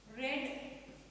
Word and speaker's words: read: वाचणे रीड रेड रेड हे बघा इथं स्पेलिंग सेम असणार आहे पण त्याचं प्रोनाऊन्सिएशन पूर्ण बदलणार इथं आपण बोलतो इथं रीड म्हणतो मी प्रेझेंट टेन्स मध्ये पास्ट टेन्स मध्ये बोलताना मी त्याला रेड आणि रेड असं म्हणणार आहे लर्न लर्न ला